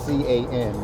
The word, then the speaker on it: Can: with my coach, Coach Can. His name is spelled as it sounds, C-A-N.